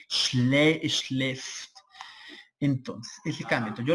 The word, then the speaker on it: schläft: Acuérdate que en alemán con la diéresis, es decir, con los punticos arriba, suena como una e abierta, como la e de nosotros. Por eso se pronuncia e, schläft.